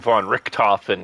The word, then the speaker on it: VonRikken: His name was Baron von Richthofen, and my gamer tag is spelled VonRikken. Von Richthofen.